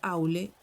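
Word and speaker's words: Aulë: Así, la primera sílaba de aule es como en el inglés aul.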